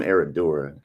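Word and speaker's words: Herradura: such an over tequila come on get some eradura get some that's how you actually pronounce it it's not TR Generations all right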